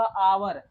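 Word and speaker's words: hour: यहाँ पर देखो, इसका जब हम हिंदी में प्रोनाउंसिएशन करेंगे तो इसका प्रोनाउंसिएशन क्या होगा, आवर। तो पहला शब्द क्या निकल रहा है, आ। और हम जानते हैं कि आ क्या होता है, आ स्वर होता है।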